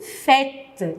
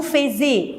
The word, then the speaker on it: faites: Vous faites. Je ne dis pas vous faisiez, vous faites. Ils, elles font O-N-T.